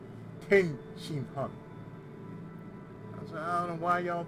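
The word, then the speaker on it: Tenshinhan: Like Tien, they always add an extra vowel in there. Like his name is not Tien, it's Ten Shin Han.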